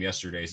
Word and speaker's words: Yester Daze: stuff like that so hence the name yesterday's it's three syllables it can be chanted